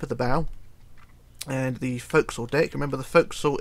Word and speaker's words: forecastle: to the tip of the bow and the fo'c'sle deck remember the folks thought is pronounced folks although it is spelt forecastle so if you